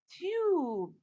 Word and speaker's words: tube: word is what tub if i add e at the end what does the silent e tell the preceding vowel letter it tells it to say its name what's the name of